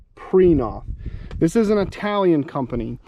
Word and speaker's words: Prinoth: mulcher but yeah it it looks like you should pronounce this print prynoth it's p-r-i-n-o-t-h but it's actually preenoff this is an italian